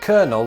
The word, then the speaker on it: colonel: lesser extent the British pronounce the military rank of Colonel with an r in it colonel and I know